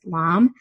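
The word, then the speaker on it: lame: they call it um you spell it l-a-m-e pronounce pronounced lamb that's what you make uh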